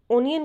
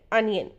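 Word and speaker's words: onion: प्याज, प्याज को बहुत ज़्यादा लोग ओनियन कहते हैं, वो सही है लेकिन करेक्ट प्रोनाउंसिएशन है अनियन। सो नेक्स्ट टाइम आप कहेंगे अनियन, प्याज, अनियन।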